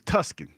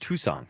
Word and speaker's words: Tucson: While we're here, since we're here, you know, Tucson is not Tucson. It's Tuskin.